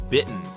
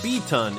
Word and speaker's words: beaten: For example, some learners say beaten as bitten, but it should sound like beaten in off the beaten path.